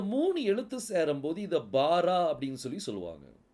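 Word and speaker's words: ברא: எழுத்து சேரும் போது இதை பாரா அப்படின்னு சொல்லி சொல்லுவாங்க பா ரா வாரான்னு சொல்லக்கூடாது இது என்ன சொல்லணும் பாரா அப்படின்னு சொல்லி சொல்லணும் ஏன்னா பெத்துக்குள்ள என்ன இருக்கு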